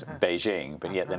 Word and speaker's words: Beijing: different names we have Peking becomes Beijing because that's the proper pronunciation so it is a